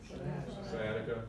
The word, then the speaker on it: sciatica: Sciatica. Awesome, good, nobody pronounced the C in sciatica, that's good.